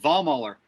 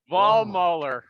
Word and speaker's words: Vollmoeller: took me like fourth grade to learn it ball muller ball muller oh spell it it's on the screen man yeah it's